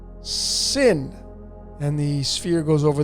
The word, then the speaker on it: Sin: and then you have the same letter Shin but now it's pronounced sin and the sphere goes